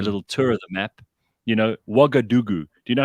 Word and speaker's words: Ouagadougou: Ouagadougou. Do you know how you spell that, by the way? No. Ougadougou. Ouagadougou.